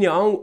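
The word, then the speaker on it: Aung: meravigliosa che si chiama mini mini yang min yang ha un ong non si pronuncia è di origine della sua famiglia di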